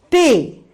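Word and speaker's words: ٹ: Then Te, Te, Te. Here you pronunciate the letter T heavily.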